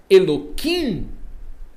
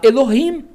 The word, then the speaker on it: Elohim: Então quando eles falam Eloim, eles estão falando de propósito errado para não falar Elohim.